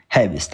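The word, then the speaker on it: Herbst: وحد وسمعت حد يقوللك هيربست هقول لك لا دي صح دي غلط فمافيش مشكله اوكي هيرست او هابست مافيش مشكله هابست عادي طب ما هي الصح تنطق فعلا هابست هابست مش هنطق الار تمام زوما فيلين هابست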